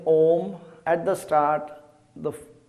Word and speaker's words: Om: at the start the shape of your mouth should be a big o a lot of people say om something like this it should actually be said with the mouth fully open and mouth forming an o something like this